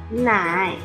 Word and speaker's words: 奶: 奶，第三声调，部首诗，女字旁。